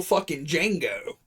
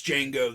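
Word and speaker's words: Django: Fox Says you know my name's D Jango the D is silent and dude goes oh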